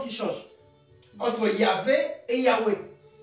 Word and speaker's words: Yahweh: L'ancienne prononciation, c'était OUE. L'ancienne. À l'époque de Moïse, c'était OUE. Il ne prononçait pas. Voilà, c'est pourquoi on dit Yahweh. Yahvé, c'est une prononciation plus récente. Parce qu'on dit V. Mais avant, c'était OUE.